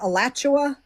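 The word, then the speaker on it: Alachua: Um, I'm gonna Let me see if I can put the information with the um How do you pronounce it? Is it Elatchua?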